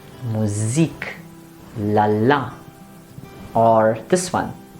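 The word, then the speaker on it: Musik: music rather um and since it's an international word the stress goes towards the end so we say music la la or this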